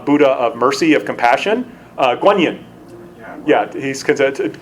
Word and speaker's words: Guan Yin: of mercy of compassion Guan Yin yeah he's consented Quan Yin is the Chinese pronunciation of that quondam I think in